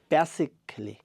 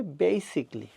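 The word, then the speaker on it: basically: আমরা বাংলাদেশে বলে থাকি বেসিক্যালি। এটি হবে বেসিকলি।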